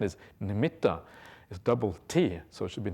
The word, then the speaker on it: nimitta: Nimet ah we often translated as we often pronounced as nimita but really the proper pronunciation is Namita is TT so should be limited rather than